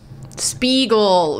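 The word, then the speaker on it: Speegle: spelled how's it spelled it is spelled s p e e g l e spegel it's like phonetic it's like it's like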